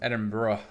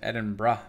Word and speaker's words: Edinburgh: sure I didn't brother pronounced Edinboro by tourists and Edinborough by anyone in Britain that's why I call it Edinburgh you know that's the way they pronounce it so I try to pronounce it the way that it's supposed to be pronounced it's my just little